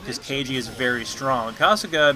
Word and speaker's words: Kasuga: Every time I say Kasuga now, I have to put a little more emphasis on the Suga part of her pronunciation, so it doesn't sound like I'm saying Casca, as in Berserk Casca, which I'm going to